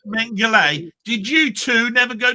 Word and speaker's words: Mengele: Yeah, pronounced Mengele.